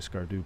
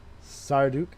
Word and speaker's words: Skardu: Sarduk. Wait, what's the Gustavo? It's not. I thought it was Skardu. It's Sardakur.